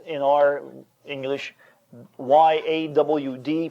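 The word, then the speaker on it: יד: And it's spelled in our English Y-A-W-D, pronounced yawd. Like a southerner would say, I've gone out my backyard.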